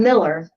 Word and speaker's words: Mueller: Yes, but you're already saying it wrong. Sorry. Well, I'm Miller because he told me the right way to say it, but then I made the mistake of reading.